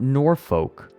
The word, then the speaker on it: Norfolk: I can't do the Saturday after because we're recording Norfolk Wizard game, but maybe the Saturday after that.